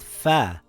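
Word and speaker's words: فاء: This letter is called fa. It is a light letter. Fa makes a similar sound in English to the letter F in the word fox or the word fish.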